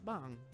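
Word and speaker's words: 방: how it works hey bang pronouncing with a long a like bong oh it costs a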